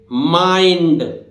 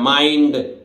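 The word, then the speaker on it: mind: एक और है तरीका कि आई के बाद एलडी आ जाए या एनडी आ जाए तब भी आई की ध्वनि आई होगी, जैसे माइंड, क्योंकि आई के बाद एनडी आ रहा है।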